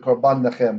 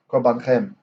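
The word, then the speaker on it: קָרְבַּנְכֶם: Et korbanchem, your offerings. Okay, and we see the syllable division. We have two silent schwas, right? Korbanchem. As I almost messed up and said korban nechem, but nope, korbanchem.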